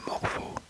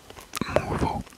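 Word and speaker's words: Mouvaux: D'ailleurs, comment est-ce que on prononce ceux qui habitent à Wasquehal? Les Wasquehaliens? Non, je sais pas. Là on a Morveau. Ah oui, Morveau, tu déconnes. Mouveau, Mouveau.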